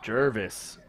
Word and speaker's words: Jervis: Jervis. I told you that's how you pronounce it.